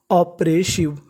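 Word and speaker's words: oppressive: ऑप्रेसिव।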